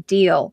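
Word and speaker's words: deel: So it's sort of like, and they have what's called a summer deal and a winter deal. Deal is spelled D-E-E-L.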